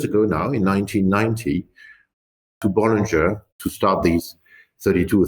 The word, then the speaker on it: Bollinger: For the workers, the people working for Bollinger say Bollinger.